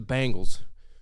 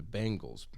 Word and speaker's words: Bengals: thought that was wrong i said the bangles which i was corrected on was also wrong and i can't even remember i guess whatever the right pronunciation is um the bing bang bangles oh yeah because i call them bangles like bang they're the bengals which is slightly different way closer might i add